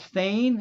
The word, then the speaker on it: Thane: out now i think he pronounced his name as thane i think it's bounced